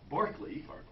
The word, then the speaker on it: Berkeley: with a bishop okay Barkley he wanted his name pronounced the way the Irish way for whom the city of Berkeley is named and Barkley gave these